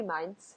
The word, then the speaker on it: Mainz: oh have fun yeah m-a-i-n-z would be mines you would be saying it right and then um robert's